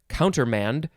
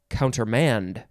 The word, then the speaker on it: countermand: and uh counter oh you can also emphasize the last syllable so it could be countermand or counter manned subtle subtle this is